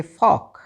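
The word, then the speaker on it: folk: तो TAL के टालक ना ना ना ना ना क्या पढ़ेंगे टॉक, क्योंकि एल तो साइलेंट है। FOL के फॉक।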